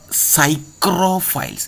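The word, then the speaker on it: psychrophiles: Optimum growth temperature first one is known as cyr files it is pronounced as Cyro P silent cyr files next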